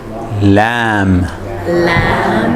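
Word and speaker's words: لام: really hammer okay and this one is lamb like lamb meat we like lamb so lamb and that's the name of the letter and it's L as in Larry you see health last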